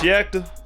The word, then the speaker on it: Yakta: It's pronounced Yakta. My southern slang is gonna make me say Yakta.